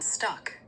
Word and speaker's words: stuck: Stuck has a short u sound like in cup.